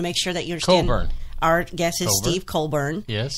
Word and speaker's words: Colbern: how it's pronounced, that's how it should be pronounced. So want to make sure that you understand. Colbern.